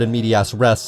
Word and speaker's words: in medias res: So as before, this game starts out in medias res, and I still refuse to pronounce it as race, with all three members